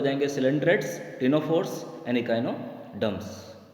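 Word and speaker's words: ctenophore: और इसके एग्जांपल्स आपके हो जाएंगे सिलेंड्रेट्स, टिनोफोर्स एंड इकाइनोडर्म्स। सी यहाँ पे साइलेंट रहेगा स्टूडेंट्स टिनोफोर में।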